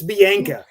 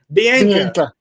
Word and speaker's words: Bianca: 100% of the time it's Biana. Bianca and he just cannot